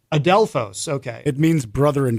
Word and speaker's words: Adelphos: So the pronunciation of the song is called Adelphos. Adelphos.